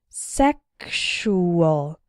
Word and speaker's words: sexual: as well as luxurious in the word sexual the X sounds like ksh sexual and in luxury and luxurious it sounds like gzh good luxury luxurious I often hear students